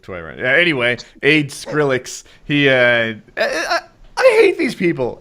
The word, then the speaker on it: Skrillex: Did I say it wrong? That's Skill Rex. How do you say it? Skrillex.